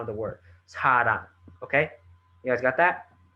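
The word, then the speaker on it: 사랑: Whatever value you put in front of it, but this influences the word sarang. You need to pronounce the ng at the end, rang.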